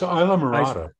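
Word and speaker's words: Islamorada: It's Isla Morada. Is that how you say it? It's Isla Morada.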